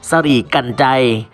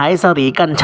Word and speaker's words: สรีกัญไชย: ตาม อักษร ธรรม ล้านนา ออก เสียง ว่า สลิ่ กัน ใจ บาง แห่ง ใช้ สวี กัน ใช้ ก็ มี หมาย ถึง